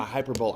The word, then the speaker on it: hyperbola: h a good uh hyperbola is actually the way you pronounce it but I mean it's a fun one to to mispronounce hyperbola it's not a hyperbole either no that's like one